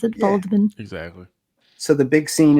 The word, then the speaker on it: Waldman: we would we would bastardize it and say Waldman but they pronounce it baldman exactly so the big scene in here is